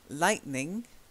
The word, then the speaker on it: lightning: Lighting, there's no n in the middle. Lighting. Then lightning. And then lightening. Okay. So you've got lightning. And then you've got lightening.